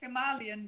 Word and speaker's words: Himalayan: Yeah, I say Himalayan because that's the way they say it in India. Exactly. So when I wrote it there and bought it there, everybody says Himalayan there, and I figured,